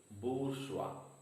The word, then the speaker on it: bourgeois: Bourgeois, stress is on the first syllable, bourgeois.